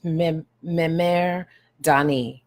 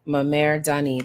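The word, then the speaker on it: Mmere Dane: And this is pronounced Memer Dani. Memer Dani.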